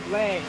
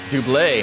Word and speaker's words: Dublé: How do you pronounce it? Dublé. Dublé. Oh, so I was right.